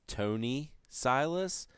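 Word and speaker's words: Thony Silas: Jim Zub and I'm assuming this is pronounced Tony Silas, but it starts with a TH. So it's kind of like Thom Yorke. That's pronounced Tom.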